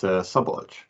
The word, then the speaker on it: Szabolcs: How do you pronounce these things? Yeah, it's Szabolcs.